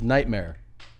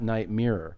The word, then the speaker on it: nightmare: your headphones on it's nightmare nightmare no not night mirror it's nightmare okay go ahead nightmare